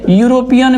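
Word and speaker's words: European: लेकिन इसका उच्चारण करके देखिए। यूरोपियन में य आता। यूरोपियन तो य वर्ड जैसे आ गया तो ये व्यंजन बन रहा है।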